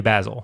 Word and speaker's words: Basil: is uh you know basil is an English pronunciation Basil's more of an American pronunciation yeah it's also uh